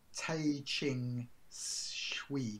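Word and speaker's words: Tehching Hsieh: It's called Tai Ching Shui, which is Tai Ching, T-E-H-C-H-I-N-G. And his surname is H-S-I-E-H.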